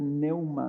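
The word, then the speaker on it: πνεῦμα: Espíritu, la palabra Espíritu se escribe en griego, se dice neuma, donde decimos neumáticos, ¿verdad?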